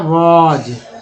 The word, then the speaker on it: was: यहाँ भी मान लीजिए लिख रहे हैं WAS, क्या उच्चारण होता है? वॉज, ठीक है, वास नहीं बोलते, वॉज बोलते हैं।